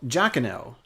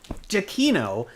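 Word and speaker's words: Giacchino: starred in this tv show scored by michael giacono jaquino uh that tv show being lost that's the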